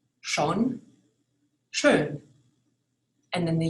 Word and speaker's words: schön: The O with the dots over it actually mean OE.